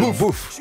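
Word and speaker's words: Boef: Il s'appelle Bouf. Bouf. Enfin, je prononce ça parce que c'est B-O-E-F.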